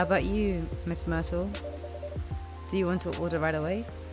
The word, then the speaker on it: Myrtle: Not Mithril. Myrtle, because we said it rhymes with turtle, right?